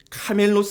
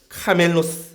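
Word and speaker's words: κάμηλος: 합니다 또는 약대 낙타의이 헬라와 발음이 카멜로 있데 밧줄이 한 단어의 발음이 카밀로라고 합니다 카멜로 카밀로 언어 유의서 부자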